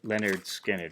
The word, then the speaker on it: Lynyrd Skynyrd: than this do they Lynyrd Skynyrd and their first record pronounced Leonard Skinner what a debut record